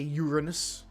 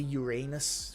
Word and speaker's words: Uranus: I know some people not these days they try to say Uranus, but everyone called it Uranus when we were younger.